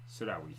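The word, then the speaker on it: Sirhowy: Sarawi. Sarawi, yes. So it's Sir and Howie. Howie.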